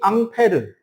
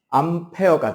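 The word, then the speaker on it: Ampère: 그거를 좀 더 세세하게 연구하고 정리한 학자의 이름이 앙페르. 앙페르의 미국식 발음이 암페어가 되는 거죠.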